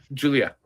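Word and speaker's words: Giulia: Julia, I know. No, I like calling her Guila because it's spelled guila.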